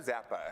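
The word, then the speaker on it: Czappa: Zappa. I'm hoping I say that last name correctly. Okay. It's C-Z-A-P-P-A, so Okay. I believe the C is silent, so Zappa.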